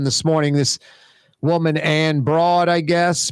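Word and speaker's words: Breaud: This woman, Ann Broad, I guess, Broad, B-R-E-A-U-D, Broad, bro, silent D, like Django, the D is silent.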